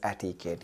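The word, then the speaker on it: etiquette: ई टी आई एटीकेट अब जैसे मैंने क्यू कहा क्यू के बाद जो यू है ये साइलेंट है तो एटीकेट यू साइलेंट हो गया क्या बना एटीकेट और जब एटिकेट आपके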